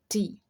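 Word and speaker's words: thirty: né, relacionados à adolescência, o inglês ensina a gente a enfatizar o third. A primeira sílaba. Então, 30, 30, 30.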